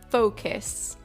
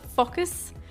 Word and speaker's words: focus: It's focus. This is, I think, the most mispronounced word in all of English. Focus. Okay, not focus.